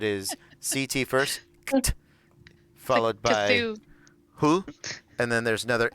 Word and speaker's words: Cthulhu: I was double checking how you gain Cthulhu, the phonetically appropriate way to say Cthulhu. Cthulhu.